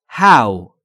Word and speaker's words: how: و خیلی کاربردیه اما در مورد تلفظش باید دقت بکنید هو نیست حال شما چطوره یا